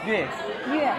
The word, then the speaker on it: 粤: 上海是沪，北京是京，然后广东应该是粤，对，就跟越南的越发音是一样的，但是字的不同，字是不一样，发音一样的。